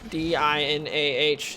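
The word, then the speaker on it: Dinah: That's how it's pronounced, because it's D-I-N-A-H. It's Dina.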